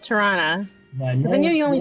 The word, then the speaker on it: Toronto: It's Toronto. Toronto. It's a schwa at the end. Toronto.